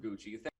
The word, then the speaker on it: Gucci: population a house of gucky interview with mr irons the movie is house of gucci they're pronouncing it wrong what the [ __